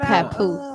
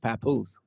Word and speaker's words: Papoose: You know she got Papoose. That ain't how you say it. That ain't how you say it. How you say it? Papoose.